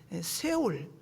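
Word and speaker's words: שאול: 히브리어로 보면 세울 스울이라고도 하고에 정확한 발음은 세울입니다.이 세월을 음부라고 표현했습니다.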